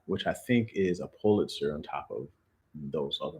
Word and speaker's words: Pulitzer: Polizer, that's how you say it? Pulitzer. Huh? Pulitzer. I think there's only one person. Isn't a T in there?